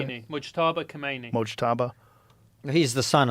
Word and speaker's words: Mojtaba: Mojtaba. How do you say it? Mujtaba Khomeini.